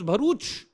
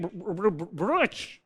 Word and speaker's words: Bharuch: So therefore, they could not pronounce Bharuch. Right? So whenever they wanted to say Bharuch, they're like Broach. Broach. Right?